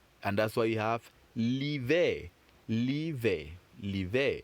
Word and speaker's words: l'hiver: And that's why you have l'hiver. L'hiver. L'hiver. The H is silent.